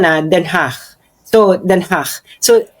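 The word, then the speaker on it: Den Haag: ko diyan sa sa Denhach. So ngayon yun ang pronunciation na Denhach. So Denhach. So So just feel like you are expelling Flem very lightly and very um soft then ha ganon.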